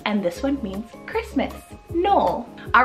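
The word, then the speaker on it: Nohl: For N, I have one name here, and that's the name Noel, spelled N-O-H-L, Noel.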